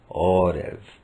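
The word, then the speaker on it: עורב: L'édénique Ein Resh Bet est habituellement prononcé Orev, qui signifie raven ou corbeau.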